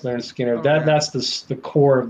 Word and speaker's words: Lynyrd Skynyrd: second helping nothing fancy pronounced Leonard Skinner that that's the core